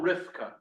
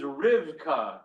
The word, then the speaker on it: Rivka: How would you spell Rifka? I don't know. In the Hebrew, in the Hebrew, it's a bet, right? Rifka is Rivka in Hebrew, that bet is a hard V.